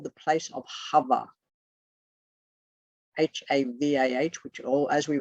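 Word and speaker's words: Havah: and it is also called the place of hover h-a-v-a-h which all as we were discussed earlier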